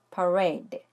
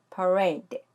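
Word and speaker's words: parade: a 의 소리가 나요 그리고 맨 앞에 있는 모음의 이는 강세가 없기 때문에 소리가 약해져 요 그래서 두번째 몸 a 에 강세를 줘서 덜 5a 때 하고 발음하면 되는 거죠 그럼 같이 발음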